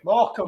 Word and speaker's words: Morecambe: How do you pronounce that? More company. Morecambe.